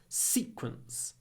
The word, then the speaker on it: sequence: that's a sequence sequence when you say this word sequence long s quite a short e because it comes before c sequence the sequence and you